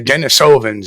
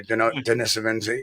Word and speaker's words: Denisovans: you had the the denisovans if you want to call them that or denisovans you know I found out that either way is the proper way to say it there is no it's